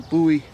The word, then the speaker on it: Bowie: and that comes from the buoy fighting system or the Bowie fightings how however you want to pronounce it but Jim buoy or